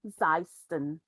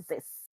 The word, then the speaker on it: Xyston: And XYSTON is pronounced Zeiston or Zis.